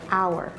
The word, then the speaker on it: hour: Same thing happens with the word hour. If you know how to spell that word, you know that this word starts with an H, and then H is a consonant. But the sound you make when you say that word is a vowel sound.